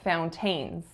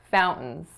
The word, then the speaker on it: fountains: making it flowers flowers next up I said fountains fountains when in fact we stress the first syllable and say fountains fountains and finally I said